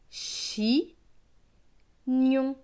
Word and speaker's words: chignon: Donc ce mot va se lire chi, gnon, chignon.